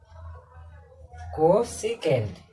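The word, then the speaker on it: cosec: और last but नॉट the least कोसेकेंट। मैं तो स्पेलिंग ही भूल जाता, जिसको हम क्या बोलते हैं, कोसेक।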